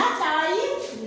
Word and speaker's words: taille: La taille, la, T avec aïe. Ça, c'est le graphème aïe. Alors, tout ça, c'est une seule syllabe.